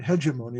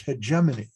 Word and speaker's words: hegemony: him in a book like hegemony and then i found out one day it's not hegemony it's hegemony okay why because when